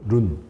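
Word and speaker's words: 润: 합니다 아 이거를 이제 중국에서는 룬이라고 그래요 룬 ru 룬이 뭐냐면 윤기가 난다 할 때 윤 자를 중국어 바르면 룬인 주윤발의 그 윤이기획 발음인 룬이 그니까이 말을 왜 쓰냐면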